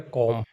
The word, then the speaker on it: comb: तो हम इसे क्या पढ़ते हैं, कॉम। तो यहाँ पर हमारा बी जो है ये साइलेंट है। ये ज़्यादातर हमारा जब भी एम के बाद में बी आता है तो साइलेंट हो जाता है, जैसे BOM, तो ये